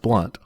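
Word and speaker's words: Blount: it's james blunt also but it's b-l-o-u-n-t and it's pronounced blunt i don't know if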